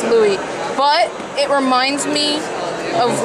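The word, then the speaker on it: Louis: from the same Louie pronounce Lewis isn't it no not in French in French s's or silent so yeah it's Louie but it reminds me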